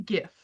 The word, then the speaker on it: GIF: how he pronounces this it's a gift it's a gif ohot I don't don't do it JF GIF is a peanut butter GIF is a